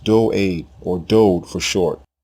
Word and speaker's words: David: david it is not dawid his name is pronounced do aid or dodd for short the king's name is derived from the hebrew word doud which means beloved more correct versions of